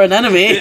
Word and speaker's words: anemone: eight sea creatures ago oh here's another anemone anemone anemone you just caught another anemone there there's literally it's literally so easy enemy but it doesn't really rhyme because the syllables are in the wrong order oh okay fine right